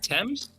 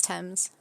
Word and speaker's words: Thames: river thames that's the thames is that well i i always read those things or something that's thames thames okay yeah one of those weirdly pronounced things like the doom is